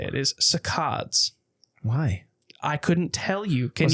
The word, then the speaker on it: saccades: So it's so it's a hard C. K, like the K sound.